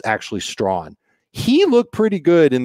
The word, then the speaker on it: Strachan: but it looks like his last name is pronounced stratchen but it's actually strong he looked pretty good in the preseason game